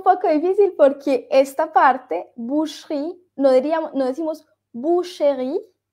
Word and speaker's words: boucherie: BOU se U. Boucherie.